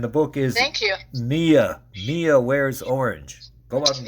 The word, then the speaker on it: Miya: Even though it's spelled Miya, it's pronounced Mia.